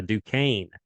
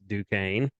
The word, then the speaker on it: Duquesne: the next day following last week's podcast uh duquesne yeah duquesne yeah i did not know that